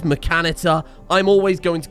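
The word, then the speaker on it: Mechanitor: it makes me feel good I know it's pronounced mechanitter okay it clearly says mechanitter I'm always going to call it machinator because it sounds better to my ears let's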